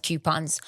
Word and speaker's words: coupon: Is it coupons or coupons? Coupon. I say coupons, but I say everything wrong. But it's COUPON. Coupons. Yeah, but I say it like Q. You're dropping the O? Coupons. But again, I'm probably wrong.